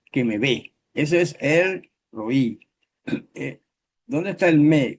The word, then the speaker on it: El Roí: Séptimo título, el roí. El roy, casi todo el mundo dice el roy, pero en hebreo el asiento va en la i.